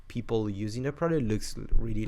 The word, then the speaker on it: Peeple: People. How do you pronounce it? People. Like people. It's like people, but more offensive.